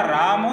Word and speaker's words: राम: इसमें नहीं है अतः राम के अंतिम म अक्षर का पूर्ण उच्चारण करना चाहिए जैसे कि श्री राम